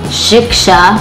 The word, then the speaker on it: Shiksha: You pronounce it like rickshaw. Shiksha.